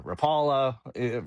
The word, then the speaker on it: Rapala: Rapa starts with rap like rap music. I know it's uh Rapala that a lot of